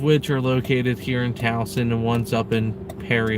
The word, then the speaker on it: Towson: boom we're in downtown tucson i like saying it wrong because yeah reasons it's actually pronounced towson but our gps always said twosome i'm doing well hey